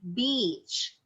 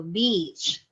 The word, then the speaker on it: beach: must use should be beach and how you say it should be emphasizing the middle part of the word e so beach on the other hand